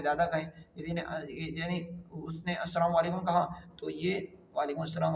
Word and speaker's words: السلام علیکم: نہ جائے۔ سلام اور جواب سلام کا درست تلفظ یاد فرما لیجیے۔ پہلے میں کہتا ہوں آپ سن کر دہرا لیں، یعنی السلام علیکم، السلام علیکم۔ اب پہلے میں جواب سناتا ہوں